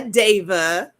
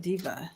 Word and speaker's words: Deva: That's how you say her name, Deva. Deva. Oh, I love it. I know. Because I would have said diva. Oh, I was saying diva for like weeks until she spelled it phonetically for me.